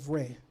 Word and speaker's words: Ra: knowing the evolutions of Reay some people say Rah but the Egyptians actually said re in this ancient text